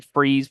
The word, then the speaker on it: Fries: Um, my personal Facebook page, which is, and then Freeze, but it's spelled like French fries, Fries.